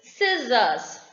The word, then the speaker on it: scissors: the first rule says letter c is usually not pronounced when the combination s c occurs when c comes together with s you just omit c's pronunciation in that that is scissors if c is there or not you call it scissors isn't it next what